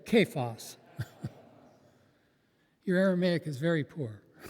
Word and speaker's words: Cephas: Cephas.